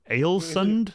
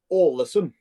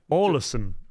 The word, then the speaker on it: Ålesund: I mean, I was going to try and pronounce it as something like Alesund. See, that's completely wrong, probably.